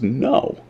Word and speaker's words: know: oh well obviously it's no the K is silent whoa but what about